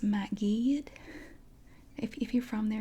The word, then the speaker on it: Mount Gilead: from that immediate area because um they don't pronounce it Mount Gilead they it's actually pronounced mat GED if if you're from there you say Matt